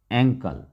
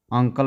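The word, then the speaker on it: ankle: school उसके बाद है ए एन के एल एंकल अंकल मत पढ़िए एंकल पढ़िए सेसे अ से लिखा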